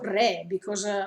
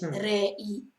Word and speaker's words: Rei: E quindi Rei o Re, perché, scusate, perché in giapponese si dice Re, non si dice Rei.